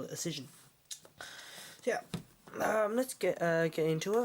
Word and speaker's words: Auscision: Models originally, but I have learned how to pronounce it properly, and now I do call it Auscision.